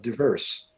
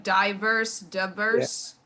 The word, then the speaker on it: diverse: I found it initially jarring to hear it, that A, the I pronounced that way. I would have said diverse, because Instead of diverse. yeah, Okay. and accent on the second syllable.